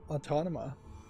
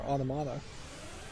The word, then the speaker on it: Automata: time with no object it's near autonoma really is what I would like to play um or automata is the right to pronounce it um but yeah I